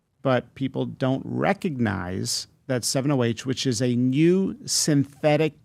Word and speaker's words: 7-OH: If I'm saying it correctly, 708, am I saying it correctly? Yep.